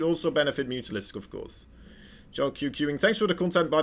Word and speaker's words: Jelqing: Jelqing. Thanks for the content, by the way. It's pronounced Jelking.